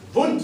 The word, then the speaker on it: Wundt: Wundt. Say it like a German says it.